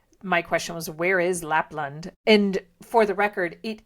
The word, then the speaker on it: Lapland: We learn about something called Lapland or Lapland, and it's, I don't know, there aren't many places that are specifically mentioned. So my question was, where is Lapland?